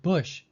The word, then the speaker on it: bush: something weird number four the word bush takes the uh sound this symbol is standard